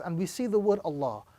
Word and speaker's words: Allah: In the Arabic text, the word Allah can either be pronounced with a round sound or a flat sound.